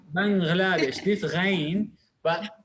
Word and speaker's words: Bangladesh: لا, we can say Bangladesh. This غين, but in Arabic, this is a foreign word. So if you know the right pronunciation, that the غين come as gay.